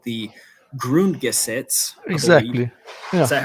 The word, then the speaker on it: Grundgesetz: the temporary basic law, which is called the Grundgesetz. Exactly. Yeah. Is that how you pronounce it?